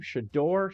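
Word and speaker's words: Shedeur: How do you pronounce his first name? Shador.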